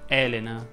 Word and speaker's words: Elena: o andiamo anacleto sì elena si pronuncia con la è aperta ovviamente solo la prima